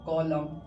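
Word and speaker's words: column: कॉलम। क्या पढ़ेंगे? कॉलम। Autumn. क्या पढ़ेंगे? देम। तो आई थिंक एम के बाद एन क्या होगा? साउंडलेस हो जाएगा। यानी साइलेंट हो जाएगा।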